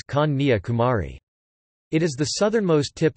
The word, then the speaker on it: Kanyakumari: In Tamil it is pronounced as Kanyakumari.